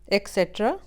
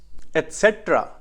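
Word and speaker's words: etcetera: Film, film, bulb, bulb, vehicle, vehicle, डिटरमाइन, डिटरमिन, बाईसाइकिल, बाइसिकल, relative, relative, economy, economy, एक्सेट्रा, एटसेट्रा, engine, engine, Saturday, Saturday.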